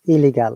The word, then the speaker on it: illegal: If you find any double consonant in any spelling, we should always pronounce one, and others should be silent.